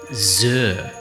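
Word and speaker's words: Xer: river close to the Port City of Zur and that's spelled improbably x e r I know the I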